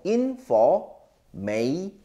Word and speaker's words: information: F 발음 살려서 information. I-N-E in이죠. F-O-R for information. T-I-O-N은 션 발음이 납니다.